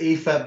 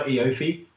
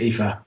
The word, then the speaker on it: Aoife: So her name's Aoife Bailey. Aoife. Yeah. Okay. I used to call her Eofi because of the way her name's spelled. But it's Aoife. It's tricky.